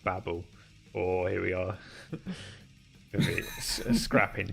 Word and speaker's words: Babel: anyway what was this bay bell from hitchhiker's side of the galaxy or the developer says it's pronounced babble oh here we are